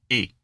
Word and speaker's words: est: Picking up on another thing you both are starting to do you see that verb to be in French, so est? Mm-hmm. It's just et.